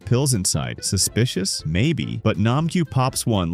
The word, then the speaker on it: Nam-gyu: Yo, Nam-su. It's Nam-gyu. Nam-su.